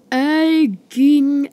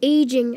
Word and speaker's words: aging: Egging acid? SpongeBob, what's egging acid? Okay, first, it's pronounced aging acid, and two, I just